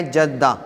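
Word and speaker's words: جدة: تو وہاں پہ بھی آپ جدید عربی میں بھی جدہ جدہ کا تلفظ ہی سنیں گے. حالانکہ صحیح تلفظ جو ہے اس کا کیا ہے؟ جدہ.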